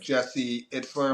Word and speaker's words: Jesse Itzler: You got Jesse Itzler. Am I pronouncing his name?